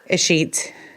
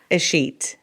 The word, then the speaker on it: escheat: First thing I needed to ask you is, how do you say Escheat? Escheat. Can you say it one more time? Escheat. Escheat. So like my Twitter is don't give a sheet.